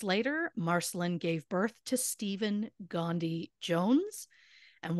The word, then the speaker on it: Stephan: marcelyn gave birth to Stephen Gandhi Jones and while it is pronounced Stephen it is spelled with an a n at the end in Stephanie's honor so